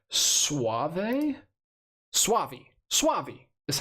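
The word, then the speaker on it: Soavi: posty posters uh for telling me how to pronounce suave Suave Suave is how you pronounce that name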